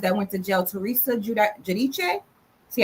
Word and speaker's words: Giudice: And like the one housewives that went to jail, Teresa Giudice. See, I say her name right. I say it Italian.